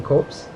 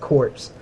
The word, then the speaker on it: Copse: the game, the Huntsmen Copse. I believe I said that right. I have no idea. I actually used to call it Corpse. But I believe I said it wrong.